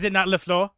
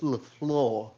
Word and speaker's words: LaFleur: Is it not LeFleur? It's LaFleur.